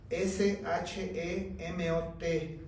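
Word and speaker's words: שמות: Mira, en el original hebreo se escribe este libro Éxodo, S-H-E-M-O-T, Shemot.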